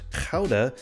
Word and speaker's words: Gouda: Gouda, or pronounced Gouda if you want to sound Dutch, has been around a lot longer than you would think.